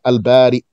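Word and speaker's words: البارئ: So it's spelled now with a hamza on the ya. Al-Bari. You stop on hamza. Al-Bari.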